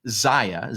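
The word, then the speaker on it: Czaia: His last name is spelled C-Z-A-I-A, Zach Zaya, Z-A-C-H-C-Z-A-I-A, Zach Zaya, the Poetry Lockdown.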